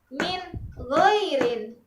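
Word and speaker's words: مِنْ غَيْرٍ: Min goirin, bukan min goirin, tapi langsung jelas min goirin.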